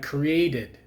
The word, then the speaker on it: created: it's not stop it the only exceptions to the to that rule are when you have a word like created so if it has a t sound in there or a sound before the the ed then you pronounce it so like created